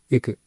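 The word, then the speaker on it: Iku: Sí, y que Bueno, podéis hacer como enseñan en japonés, es decir la U pero sin poner los labios, es decir IQ.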